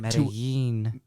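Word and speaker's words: Medellín: Hernán Cortés was born around 1485 in Medellin, Spain. Medellin. Oh, you're right. 2 L's equals a ella. Ella. Hernán Cortés was born around 1485 in Medellin, Spain, to a family of minor nobility.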